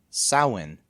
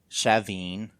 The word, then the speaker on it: Samhain: The standard Irish pronunciation of it is Samhain. There's no M pronouncing it.